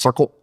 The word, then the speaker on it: CIRCL: It's mostly written and maintained by those crazy kids at Circle, and that is pronounced Circle, CIRCL.